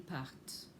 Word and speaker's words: partent: Je pars, tu pars, il part, elle part, nous partons, vous partez, ils partent. And note that the ENT on the end of il part is not pronounced.